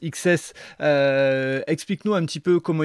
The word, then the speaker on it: XCSS: alors explique-nous ce qu'est ce projet xcss qui se prononce XS explique-nous un petit peu